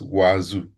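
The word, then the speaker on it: Wazuh: Then we have Elasticstack, and then we have Wazoo. Wazoo, that's what we are going to use on this lab. So in this lab, you will gain hands-on experience using Wazoo, pronounced as Wazoo.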